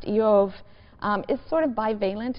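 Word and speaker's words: Iyov: The name Job, which in Hebrew is pronounced Yov, um is sort of balent in meaning.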